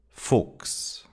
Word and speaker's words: Fuchs: The first one is when CH is followed by an S, CHS, then it's pronounced like an X. Dachs. Fuchs. Sechs. Wechseln.